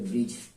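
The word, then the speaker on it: bridge: बाद आपका ये ठीक और उसके बाद डी साइलेंट हो गया तो जी का ज हो जाएगा ये हो जाएगा ब्रिज इसी तरीके से इसको एम का हो जाएगा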